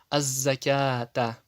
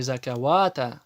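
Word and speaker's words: الزكاة: Аз-закята. Не закавата, а закята.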